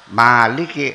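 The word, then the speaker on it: مالك: lam dan Kaf Nah kalau yang dibaca panjang Maliki harakatnya berdiri jadi bacanya Maliki sebagai pengganti Alif n kita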